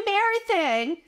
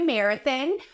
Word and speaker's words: marathon: The word is pronounced marathon. The third syllable has an O and is pronounced with the sound ah, like hot and stop. Marathon. Marathon. Not marathon, but marathon.